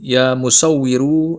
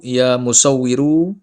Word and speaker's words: Ya Musawwiru: Cara membacanya harus ditambahi huruf ya di depannya sehingga berbunyi ya musawwiru. Ya musawwiru.